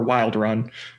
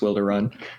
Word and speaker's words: Wilderun: It's either Wilder Run or Wild Run, but I think it's Wilder Run.